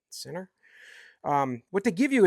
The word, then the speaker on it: CEENR: is from a company called Center CE NR I think that's how you would pronounce it Center um what they give